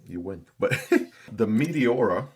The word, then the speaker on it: Meteora: But the Meteora, right, kind of sounds like a planet or something, like a combination of meteor with aura, Meteora.